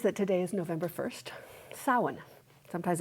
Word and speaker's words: Samhain: And also to recognize that today is November 1st, Samhain. Sometimes it's it's spelled s a m h a i n, pronounced Samhain.